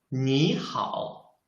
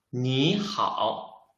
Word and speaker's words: 你好: Because in Chinese, if there are two third tongues, we should change the first third tongue into the second tongue. That's why I should read it 你好, not 你好.